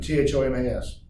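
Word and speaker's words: Tomes: And Thomas, I'm assuming T-H-O-M-A-S. Nope, not that either. It's T-O-M-E-S, pronounced Thomas.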